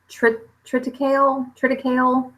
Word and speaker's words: triticale: Is it triticale? I think is how you pronounce it.